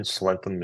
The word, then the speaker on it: slenthem: it is wrong, a slenthem. Yeah, from what I've seen, Slentham is the way that the English pronounce it.